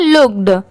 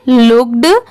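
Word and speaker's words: looked: ई डी लुक्ड जैसे बहुत सारे लोगों को मैंने देखा है वो ऐसे व वड्स को सिर्फ लुक प्रोनाउंस करते हैं तो वह रॉन्ग होता है एल डबल ओ के सिर्फ इतना लुक होता है ईडी लगने की वजह से इसे क्या पढ़ेंगे लुक्ड ये है लाइक एल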